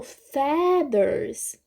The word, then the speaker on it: feathers: Então, a sílaba forte do meu nome é fi, Sofia, né? E aqui no feathers, obviamente, a gente tá no feathers, ok?